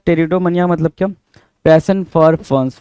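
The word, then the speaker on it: Pteridomania: यहाँ अगेन आपके सामने क्या है भाई, अगेन पी आपका साइलेंट है, टेरिडोमनिया, द टर्म इज टेरिडोमनिया।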